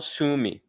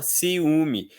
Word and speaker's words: ciúme: Ciúme, siume a gente não fala cium si a gente fala ciúme.